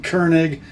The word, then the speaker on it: Koenig: I think I've called the company Koenig, and I have it on good authority. The correct pronunciation is Koenig, K-O-E-N-I-G. Let's come in close on that maker's mark.